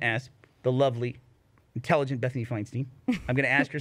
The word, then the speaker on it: Feinstein: Feinstein's right. Feinstein Yeah, yeah. is the Do you want correct the proper pronunciation?